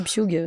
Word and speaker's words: Pugh: Alors en anglais, c'est Pugh. Ouais, voilà. Mais en France, tout le monde dit Pugh.